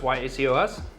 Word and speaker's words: Yacos: while but it's funny it's not like tacos a lot of people think that long a Diego's yacos yes good job what